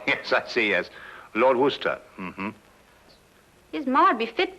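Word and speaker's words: Worcester: freddie calls it something else too doc but it's spelled w-o-r-c-e-s-t-e-r sister oh yes i see yes lord wooster mm-hmm his mind be fit to be hogtied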